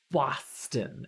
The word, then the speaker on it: Boston: you say it like Boston and I'm like wait how do you say it as far as I'm concerned that's how you pronounce Boston it's an ah sound not an O you don't say Boston